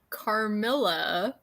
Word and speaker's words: Carmilla: We're reading Carmilla.